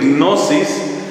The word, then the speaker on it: gnosis: movimiento se llama gnosticismo la palabra gnosis que se escribe con una G inicial como decir gnosis la palabra gnosis significa